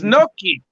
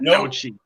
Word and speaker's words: gnocchi: It's Gnocchi, not Nochi.